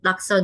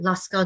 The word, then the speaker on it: laksa: back in 2014 uh people had a hard time pronouncing it i i got a lot of people they say they call it laska noodles because they think it looks like alaska la scala noodles right and so it